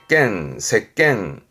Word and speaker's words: 席巻: 발음은 색겐.